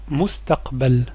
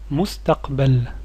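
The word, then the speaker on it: المستقبل: vidéo en pause ce mot est le mot mustaqbel mustaqbel le futur quelles sont les lettres qui compose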